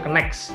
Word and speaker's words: KNKES: Kalau saya bacanya Kenex gitu ya, bukan Kenek ya, tapi Kenex gitu.